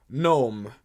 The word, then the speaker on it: gnome: here we are so gnome g n o m e see it's a bit strange because the word is gnome the letter N but it has a g so the g is silent and there are silent